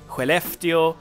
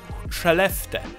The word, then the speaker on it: Skellefteå: And the last thing I want to say is that we have a few cities, Umeå, Luleå, Skellefteå, and these are pronounced like this.